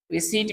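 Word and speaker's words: receipt: रिसीट में हमारे पास यहाँ पी साइलेंट है, रिसीट।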